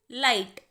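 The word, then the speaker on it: light: नीचे आएंगे ल आइट लाइट यहां पर जी और एच की साउंड दोनों की साइलेंट है इसीलिए वर्ड बनेगा लाइट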